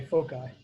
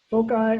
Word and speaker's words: foci: Foci or foci, they both are, it depends on how you pronounce it. Where you're from in the world changes the pronunciation, but they mean the same thing.